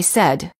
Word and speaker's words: said: measure and the spelling exceptions include the word said says again against any many warning common mistake the